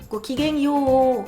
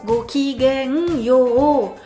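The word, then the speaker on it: ごきげんよう: Voilà, c'est de dire "Goko, n'oubliez pas d'allonger le dernier ha. Gok gang yo, gok gang yo, gok gang yo."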